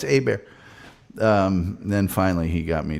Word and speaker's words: Hebert: No, it's Herbert. It's Herbert. No, it's Hebert. Then finally he got me to pronounce it properly.